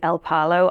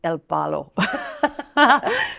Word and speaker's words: El Palo: Well, initially when I had booked a place in, how I say it is El Palo. I soon realized it's El Palo. So I've been saying it wrong this whole time.